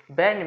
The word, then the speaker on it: Berne: बर्न कहो या BERNE, spelling याद रखना, बर्न बोलते हैं, बर्न.